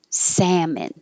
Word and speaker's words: salmon: for the l and we don't say the l in salmon salmon automatically automatically auditorium auditorium